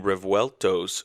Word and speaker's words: Revuelto: 2 Lamborghini Revueltos showed up. I learned how to pronounce that word maybe a month ago.